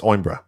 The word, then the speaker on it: Coimbra: The C is silent. It's Oimbra.